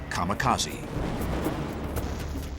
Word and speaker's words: kamikaze: They called it divine wind, which in Japanese is pronounced kamikaze.